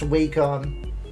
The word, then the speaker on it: Wacom: Oh, that feels so good to know it's pronounced wakecom.